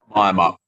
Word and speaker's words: Miamup: And Nick, what is, I'm going to mispronounce this, but is it Miamup, the name of this wine? Miamup.